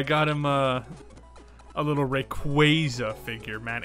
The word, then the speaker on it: Rayquaza: him uh a little rayquaza figure man it's actually pronounced rayquaza um but yeah yeah